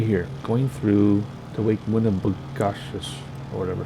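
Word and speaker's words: Winnibigoshish: And then we'll be on our way to the next lake, which is Lake Winnebigoshish. I can never pronounce this.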